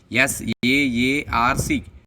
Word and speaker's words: SAARC: SAARC, it is pronounced like a word. SAARC.